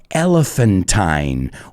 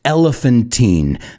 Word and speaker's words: elephantine: and that word is elephantine or it can be pronounced elephantine that's up to you depends if you're in the united states or england yeah i had to